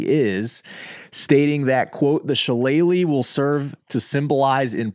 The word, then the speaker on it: Shillelagh: of all but more importantly the jeweled it's pronounced sheleighly the jewelry is the trophy awarded to the